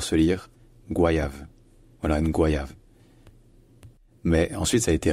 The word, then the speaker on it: goyave: ce mot en français certains disent goyav d'autres disent goyave alors en fait à l'origine ce mot était directement tiré de l'espagnol et en espagnol ça se dit qu qua donc en fait ça se dit bien Gua au début et en